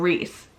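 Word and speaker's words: Rhys: is how my brain works rand's name it's pronounced reand I understand because we call him Rees so reand however I just think rice sand sounds better and for a couple of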